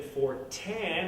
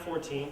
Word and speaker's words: Fortin: My name is Fortin, not 14, but, you know, whatever. I guess that's the whole American way to pronounce it.